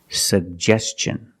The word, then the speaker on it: suggestion: suggestion that's right it's suggestion because the ti n is after an S make the hard CH sound like chicken suggestion let's look at the